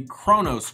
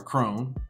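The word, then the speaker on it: CRON: And the next one on the list is gonna be Kronos Group. Ticker symbol C-R-O-N, Kron, or Krone. However you want to pronounce it.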